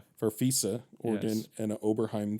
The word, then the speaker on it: Farfisa: Um Anderson actually plays the violins and the keyboard including a Farfisa I don't know I'm probably not going to pronounce it right. Farfisa.